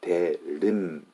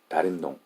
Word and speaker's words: 대림동: If I say it right, it's 대림동. But Korean people will say 다림동, 다림동, 대림동, 대림동, anything.